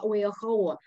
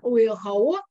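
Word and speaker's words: Oeaohoo: Его можно произнести как один, три или семь слогов путем добавления, добавляя «и» после «о».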